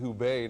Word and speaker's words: Hubei: I think it's pronounced Hubei now.